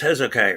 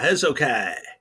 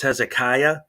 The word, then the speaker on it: Hezokuai: Um, Wait, it's Hezokai, right? Yeah, Hezokai. Um, yeah, I know it can get confusing with the pronunciation. A lot of people think it's Hezekiah because that's a biblical name, and they think that.